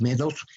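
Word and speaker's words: Meadows: 2 metros y tenis medos matrimonio metros se escribe me a dous con con w y ellos reúnen verdad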